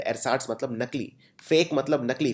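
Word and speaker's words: ersatz: लिए जिसको बोलते हैं एर साट ये थोड़ा सा डिफिकल्ट शब्द है प्रोनाउंस करना एर साट ई आर एस ए टी जड एर साट मतलब नकली फेक मतलब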